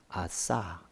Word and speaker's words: 아사: 제대로 발음하면 아싸 이렇게 됩니다. 아사왕이 아싸왕이 원래 이제 사메크인데 좀 세게 바람을 넣어 주는 거예요.